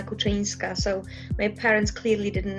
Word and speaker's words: Kuczynska: for tracking it yeah my full name is pronounced as Kochanski so my parents clearly